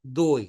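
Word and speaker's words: Dewey: por John Dey. Se escribe deway.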